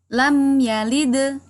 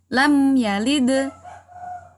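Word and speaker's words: لم يلد: Cara membacanya yaitu dengan pantulan yang tidak terlalu kuat atau ringan atau tipis. Contoh daripada qalqalah sughra adalah sebagai berikut. Lam yalid, ya, jadi tipis saja pantulannya. Lam yalid.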